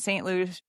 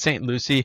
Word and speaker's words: St. Lucie: is Broward, I don't know, Palm Beaches and St. Lucia, I don't know, Realtors. It's LUCIE. Yeah, Does that even exist? it's St. Lucie, and it's Oh, Broward County, and I remember